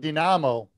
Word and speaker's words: Dynamo: I'm going to pronounce it Dinamo. Dinamo. Kind of the Italian pronunciation.